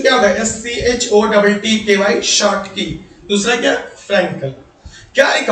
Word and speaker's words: Schottky: ये जो लिखा हुआ प्रोनाउंसिएशन क्या होगा, SCHOTTKY शॉर्ट की, दूसरा क्या, फ्रैंकल।